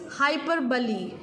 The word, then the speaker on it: hyperbole: Please do not mispronounce this. This is hyperbole.